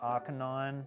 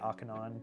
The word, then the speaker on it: Arcanine: we'll do that but Arcanine or Arcanine however you want to pronounce it I say Arcanine but I understand why Arcanine makes sense um that's an